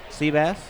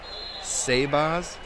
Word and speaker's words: Sebas: Mrs. Van Ort says you're pronouncing Swigum's first name wrong. Seabass? Yeah, she says he's not a fish. Says his name is Sebas. That's what she says. It is Sebas. She's right.